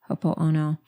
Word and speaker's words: Ho'oponopono: Every once in a while, I leave out a syllable. Ho'oponopono.